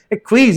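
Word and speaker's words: acquiesce: यू एक्वीज, एक्वीज का मतलब क्या होता है, हर चीज को शांति से एक्सेप्ट कर लेना, ठीक है, कामली एक्सेप्ट करना, एक्वीज इसका प्रोनाउंसिएशन है।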